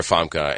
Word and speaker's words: Famke: Famke Janssen, yeah.